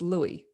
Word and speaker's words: Lewis: It's spelt Lewis, but it's Louis. yeah. It's Louis, but Dad sometimes calls me Lewis, sometimes Uh, Louis, but